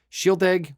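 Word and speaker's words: Shieldaig: bot for that price that's freaking ridiculous so Shield egg was it 10 or 12 I forget which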